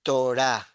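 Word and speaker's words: תורה: larga con la G, y no se pronuncia esa G. Este es el caso famoso de por qué la G no se pronuncia cuando va al final, porque termina como A.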